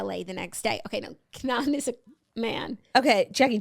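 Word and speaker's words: K'naan: I had just been on tour with an artist from Canada named How do you pronounce this guy? Kanan Kanan. He sings Waving Flag. KN A. Yeah, Kanan.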